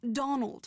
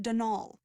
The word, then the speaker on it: Donal: that was the caretaker denol Delaney not Donald mind you there's no D at the end so it's pronounced denal that's the way you're